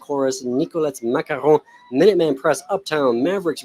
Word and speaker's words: macaron: The first thing I want to say is it's it's pronounced macaron, right? Three syllables. Macaron.